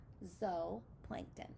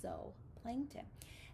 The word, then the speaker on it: zooplankton: animals are called zooplankton zo plankton not zoo even though that looks like it's a spelling for zoo we pronounce it zoe plankton and they're floating in